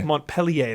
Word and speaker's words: Montpellier: Montpellier. Montpellier, that's right.